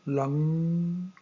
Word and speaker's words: लं: जो आखिर में लंग मैंने बोला, वो बोलते समय ल का उच्चारण करने के बाद वो उच्चार को खींच के हमारी जो जिह्वा है उसको गोल करके पीछे की ओर ले जाना है। तो जैसे म के बजाय अंग ऐसा उच्चार हो।